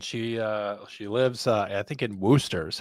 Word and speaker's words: Worcester: So it's the story of this woman, and she lives, I think in Worcester is how you pronounce it, Worcester, Massachusetts, kind of If in the there's- same If there's area.